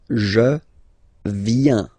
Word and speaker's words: viens: So the first form is je viens, je viens, okay? Remember this I, viens, viens, and then this nasal final S not pronounced.